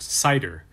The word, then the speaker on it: CIDR: First is CIDR, pronounced CIDR, which stands for Classless Interdomain Routing.